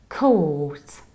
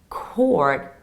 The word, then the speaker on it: court: In the British accent it's coat. Coat. Very long O and no R. Coat. And in the American accent we say court. Court, like the Supreme Court or the Supreme Court. And as you can hear, you can optionally skip final T and that will be court.